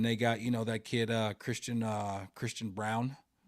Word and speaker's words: Braun: And they got, that kid Christian Brown, spelled like yes, Braun, but it's Brown.